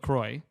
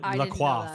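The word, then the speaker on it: LaCroix: was calling them the Avid brothers or like lacroy the sparkling water yeah lroy we I we're all we're in Canada so it's pronounced lroy I always I called it laqua for the longest time calling it La this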